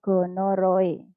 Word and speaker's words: gonorrhoeae: yaitu bakteri neisseria gonorrhoeae ini membacanya adalah gonorhoe ini adalah bakteri neisseria